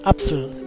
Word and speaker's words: Apfel: For example, in the word Apfel, the German word for apple, the pronunciation of the A is A, whereas in Äpfel, the pronunciation is a clear E.